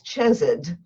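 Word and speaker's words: chesed: act with no cause i'm going to tell you right now that i'm mispronouncing it because the ch in c-h-e-s-e-d is a guttural sound that you can't pronounce properly without spitting on somebody so i'm not even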